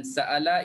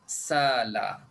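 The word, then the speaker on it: سأل: Uh, bacaan sa'ala ialah sala. Memang dalam Quran, dalam Qurannya memang dah tulis begitu, sala.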